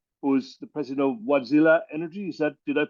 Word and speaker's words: Wärtsilä: is Andrew Lindberg who is the president of wadzilla energy is that did I pronounce it properly absolutely okay uh Anders uh